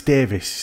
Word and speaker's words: Davies: Is it Davies or Davis? Sorry. Davies. It's spelled the Welsh word, Davies. Davies. Okay. But it's Davis.